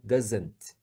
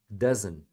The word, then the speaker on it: doesn't: o t não tem todos os auxiliares negativos é muito comum eles não pronunciarem o t como o aluno brasileiro pronuncia né doesn't então se você falar eles entendem normalmente não tem problema só que é comum eles não falarem eles param no n doesn't doesn't tá porque